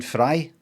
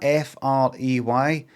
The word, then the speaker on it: Frey: that I know because I pronounced his name Glenn Fry when most people would go oh what's that f r e y Glenn Frey cuz what's he what's